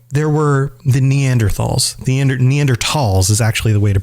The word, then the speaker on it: Neanderthals: might think okay there were the neanderthals the neanderthals is actually the way to pronounce it as far as i've i've learned